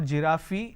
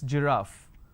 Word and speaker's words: giraffe: of pronunciation another example we have giraffe starting with G it's not giraffi it's giraffe and we have a